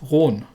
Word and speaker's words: Roon: the rune it it would actually correctly be pronounced round although i'm probably not going to keep doing